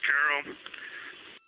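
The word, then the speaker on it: Carroll: Her name was Carol, the spouse of Reid, the mother of Katie and Ellie.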